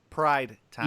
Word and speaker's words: Pride Time B: Is it Prime or Pride? I keep messing it up. Which one is it, Trav? Pride Time Yeah. B. Okay, I said it. I said it right this time.